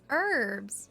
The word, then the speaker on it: herbs: That's cuz the H is silent. It's herbs.